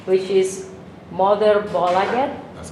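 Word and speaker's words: Moderbolaget: Actually, you still have your own imprint with your own record label, which I hope I pronounce it correct, which is Mother Bolaget.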